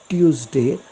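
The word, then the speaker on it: Tuesday: तो करा ट्यूसडे ट्यूसडे आता ट्यूसडे का म्हणतात लोक टी ला यु लागू नये त्याला च असा उच्चार इंग्रजीच्या भाषेतला एक प्रघात आहे आणि म्हणून म्हणून त्याचा प्रोनाऊन्स च होतो टी ला यु लागून आल्यामुळे तर इथे ट्युसडे अथवा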